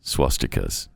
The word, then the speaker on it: swastika: There's no R in the word swastika. No, that's why you say it. That's the way you say it. That's the pronunciation of the word.